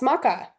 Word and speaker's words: maca: Um, but yes, I actually wanted to ask you uh about I think I'm pronouncing this right. Maca. Oh, yes. Maca.